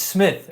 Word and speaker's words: SmythOS: It is SmythOS? It's Smith, actually. It is Smith. Instead of an I, it's with a Y.